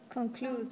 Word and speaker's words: conclude: Remember that the The final E is silent. It's silent, so how do you pronounce it? Conclude.